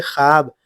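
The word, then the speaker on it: خواب: ये वाव लिखा तो जाता है लेकिन इसको पढ़ते नहीं है। यानी साइलेंट होता है। ये इंग्लिश की तरह ये हर ये साइलेंट होता है। वाव जैसे ख्वाब ख्वाब लिखा है। लेकिन हम इसको पढ़ते हैं। ख्वाब।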